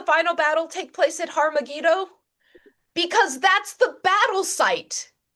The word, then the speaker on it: Har Megiddo: Armageddon is is a mispronunciation of the Hebrew Har Megiddo with an H, Har meaning mountain, Megiddo being the location, Har Megiddo, which is where the